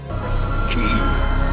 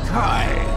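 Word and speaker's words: χ: Xehanort says flat out that it could be pronounced differently. Ki, the most ancient. Some say Kai, but the meaning is the same. But we're gonna pronounce it Ki, and if you're wondering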